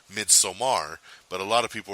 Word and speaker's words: Midsommar: But also sneaking in there is the new horror film Midsommar. So check that out. Some people are calling it Midsummer, so if the way I say it throws you off, it's because the director himself said no, the film